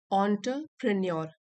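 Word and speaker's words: entrepreneur: Weather अ billionaire, ऑन्टरप्रेन्योर, की pronunciation यहाँ पे लिखी है ऑन्टरप्रेन्योर।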